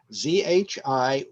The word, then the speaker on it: Zhiyun: ZHIYUN. And I went to find out how to pronounce it, and the person online said this cannot be pronounced in English, but the closest is Zhiyun.